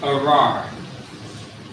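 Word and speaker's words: ארר: The word is arar. Arar, which means curse in Hebrew.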